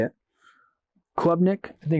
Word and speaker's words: Klubnik: That's not how you spell it. Say it. Klubnik.